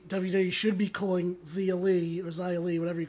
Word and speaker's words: Xia Li: Also, Xia Li, that's how you say her name.